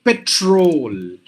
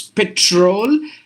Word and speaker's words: petrol: not pronounce it correctly we say Patrol the first word Patrol but actually it should be petrol not petrol look at the difference petrol petrol petrol is a right pronunciation look at the word